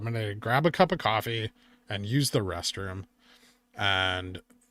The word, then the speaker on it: Ko-fi: Ko-Fi is pronounced like coffee.